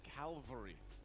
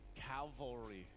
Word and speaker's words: cavalry: I just was surprised because I've always said Calvary instead of cavalry.